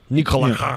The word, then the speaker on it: Nikola: Nikola. That's how. that was the surname. That is the right way to pronounce our names.